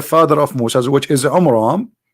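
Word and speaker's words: Amram: So Muhammad, he could not even copy the name correctly from the Bible about the father of Moses, which is Umram, not Umran. Imram. Wrong pronunciation, wrong name.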